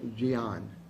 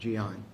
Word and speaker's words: Jean: And it's pronounced, it's spelled in our Jean, J-E-A-N, but it's Gian is how you pronounce the name when you're recording. It's Gian.